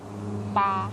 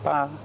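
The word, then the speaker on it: ปลา: Pa. Pa. And that's sort of like a BP sound.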